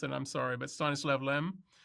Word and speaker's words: Stanisław Lem: I'm going to mispronounce it, I'm sorry, but Stanisław Lem. How do you pronounce that? Yeah, Stanisław Lem.